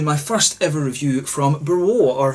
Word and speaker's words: BRLO: I'm not sure exactly how you should pronounce that one, but usually in Polish this L has a sort of W sound to it, so I'm pretty sure it's BRLO.